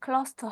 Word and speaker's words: close: 동사의 뜻이 있죠 그래서 클로즈 다다 할 때는 그 발음 이고요 가까이 할 때는 클로로 하셔야 됩니다 close to to 알았습니다 the teacher